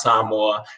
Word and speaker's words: Samoa: pacific culture from some from samoa otherwise known as samoa but it's you pronounce some more so there's elements everything